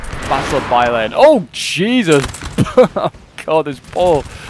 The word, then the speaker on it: Bailén: I was calling it Bailen or something like that. It's just like we'll see the anglicized. It's got like the accent of Bailén. Battle of Bailén.